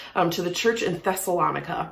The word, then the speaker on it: Thessalonica: to the church in thessalonica rhymes with harmonica and we are learning